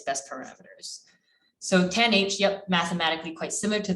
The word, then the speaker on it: tanh: to train and learn its best parameters so 10h yep mathematically quite similar to the sigmoid function